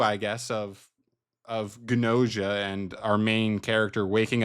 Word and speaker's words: Gnosia: But we got Gnosia. Yes, they pronounce the G.